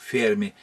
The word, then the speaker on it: Ферми: на последний срок слока час говорил ферме потому что он стал итальянцем работающим в сша естественно там вот так вот на первый слог делать ударение в фильме энрико ферми